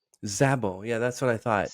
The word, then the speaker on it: Krisztina Szabó: So as a half Hungarian, you should know that Sz just is S. So in Hungarian, SZ is unit and it's just S. So it's Christina Zabo. Zabo.